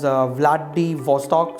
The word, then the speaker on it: Vladivostok: It is pronounced as Vladivostok.